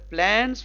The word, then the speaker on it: plans: ना, tour, PLANS, प्लान्स, ये Z से खत्म होगा, प्लान्स, प्लान्स, ये प्लान्स नहीं होता है, सा नहीं होता है, प्लान्स नहीं होता है, प्लान्स।